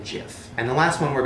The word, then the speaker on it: Jif: is GIF peanut butter which I always thought was Jiffy I feel like everybody else thought it was Jiffy I mean Jiffy peanut butter Jiffy Jiffy like that's how I remember it no it's always been GIF and the last one